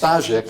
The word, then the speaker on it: Starzyk: It's a Polish word. It would be pronounced Starzyk in Polish.